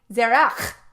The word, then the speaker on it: Zerach: And if you would speak to any other woman, you would say Zerach with a k at the back, okay? Not a as in a feminine female sound at the end.